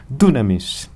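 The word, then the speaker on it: δύναμις: justamente com essas letras, mas que a sua pronúncia é muito similar a dizer dunamis, que significa, traduzido a português, poder ou capacidade de fazer algo.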